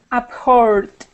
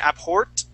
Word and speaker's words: abhor: abhor good good okay now just remember remember when you pronounce that that D sound right now it's sounding like a t you're saying abort abort you want to your tongue back and think of an R kind of kind of